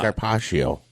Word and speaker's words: carpaccio: I'm not familiar with carpaccio.